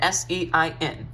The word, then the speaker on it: sein: is spelled s-e-i-n okay sein you can remember that because of the sign of a circle maybe i'm sorry the sign of an angle or the sign of a triangle i'm not great with geometry um the sign of a triangle you remember it that way however remember it's not